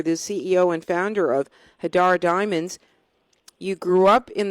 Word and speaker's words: Hadar: Website is HADAR. It's pronounced Hadar. It's two A's in the name.